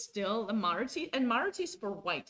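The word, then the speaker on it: Maróczy: Even Lichess calls this Maroczy.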